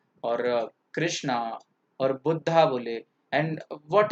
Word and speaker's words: कृष्ण: राम एस राम एंड कृष्ण एस कृष्ण no problem okay spelling पूरी करने के लिए लगा रहे ठीक है पर उसका प्रोनंसिएशन तो कृष्ण कृष्ण ही रहेगा इट्स नॉट कृष्णा इटस कृष्ण इट्स राम ना कि